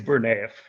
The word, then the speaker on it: Burnayev: everybody your last name because i can never pronounce it it's bernath sure he said it perfectly and you are